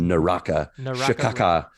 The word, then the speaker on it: Naraka: how to say it yeah it is naraca bladepoint great now now forever that